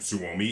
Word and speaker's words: Suomi: and the Suomi for the Finnish, which, again, Suomi is how you say Finland in Finnish.